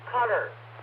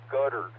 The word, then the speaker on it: Qatar: Oh, it's pronounced cutter. Cutter. That's how they pronounce it. Okay, I knew you'd know that, Jimmy, because you're a geography whiz. I remember Condi Rice used to pronounce it guttered, but she was a